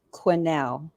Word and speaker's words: Quanell: uh speed dial and it's sorry hun it's pronounced Quinnell where was this billboard uh signed Terry was